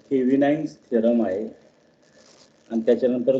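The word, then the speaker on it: Thevenin's: आता जो थेरम शिकायचा आहे तो थेविनाइन्स थेरम आहे आणि त्याच्यानंतर जो शिकायचा आहे तो आहे नॉर्टन्स थेरम.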